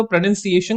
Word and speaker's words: pronunciation: सबसे पहले तो इसका प्रोनाउंसिएशन को सही तरीके से प्रोनाउंस करना सीखिए, बिकॉज ये प्रोनाउंसिएशन नहीं होता, दिस इज प्रोनाउंसिएशन.